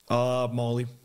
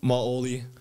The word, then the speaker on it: Maoli: Molly. Molly? Maoli. Oh, Maoli. How do you spell it?